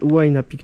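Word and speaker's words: Huayna Picchu: ce n'est pas du tout Mau pu on prononce pu c'est en fait wi pu qui veut dire en fait la jeune montagne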